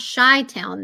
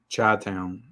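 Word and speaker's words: Chi-Town: how to pronounce it it's not shy Town though chai town so from Chicago Chicago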